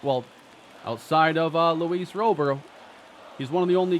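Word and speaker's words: Luis Robert: eventually have it right I do believe robber is the proper pronunciation some players don't care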